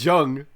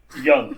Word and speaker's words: Jung: course about fate again at least it's not jung true young you mean whatever i pronounce the